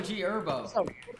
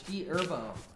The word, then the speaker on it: G Herbo: It's also G Herbo. The H is silent, bro. Okay. What? The H is silent. It's G Herbo.